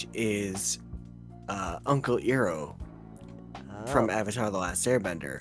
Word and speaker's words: Iroh: Oh, I was apparently getting a dissatisfied look for mispronouncing his name. I assume it's Iroh.